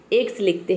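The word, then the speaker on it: excel: गया है अब देखिए किसी भी वर्ड में अगर x के बाद सी लेटर आ जाता है तो वहां पे सी लेटर साइलेंट हो जाता है केवल हम x को प्रोनाउंस करते हैं आधा क और स तो यहां पे सी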